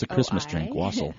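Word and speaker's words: Oiselle: deaf leopard shirt up yes yes um it's wasel uh is how you pronounce it and it's it's a Christmas drink wasel wasel wasel o i s e l l e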